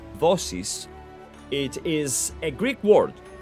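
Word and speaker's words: δόσις: Now, Dosis, or commonly pronounced in Greek as Dosis, it is a Greek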